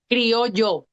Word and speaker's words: Criollo: I want to do it It's like if right. it was a Y. Criollo.